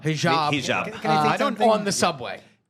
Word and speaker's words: hijab: afraid to wear their um how do you pronounce it? Hijab. Hijab on the subway.